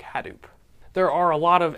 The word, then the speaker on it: Hadoop: pretty sure it's pronounced Hadoop with the emphasis on the ha I'm not positive but